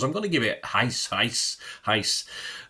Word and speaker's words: Reis: I'm going to give it Heis. I know it's spelt Rice, but it's Heis, isn't it?